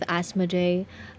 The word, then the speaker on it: Asmoday: But if you will take the reference coming from demonic beings, they will let you know that it is pronounced as Asmoday. Should you want to work with Asmoday, he can assist you